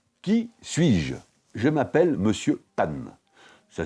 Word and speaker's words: Pun: Je m'appelle Monsieur Pan. Ça s'écrit P-U-N et ça signifie calembour en anglais.